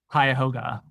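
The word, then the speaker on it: Cuyahoga: offer to defendants in the how is it pronounced or the county you operate in? Kaya Hoga. Ka Hoga. Okay. Kaoga County in Ohio. Yes. Yes. Kyhoga County is one of them.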